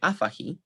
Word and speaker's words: afahi: However, stress is not reassigned to the penultimate syllable if it is underlyingly present. Thus, stress in verbs with initial stress remains on the first syllable. Thus, we get afahi and kondasehi.